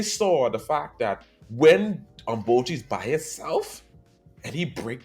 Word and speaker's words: Bojji: So to see Bojji, that's how you pronounce his name.